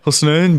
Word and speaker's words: Husnain: Husnain, but that's just because of my accent.